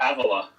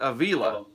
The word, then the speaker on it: Avila: I say Avila. Avila. I always said Avila. I was wrong.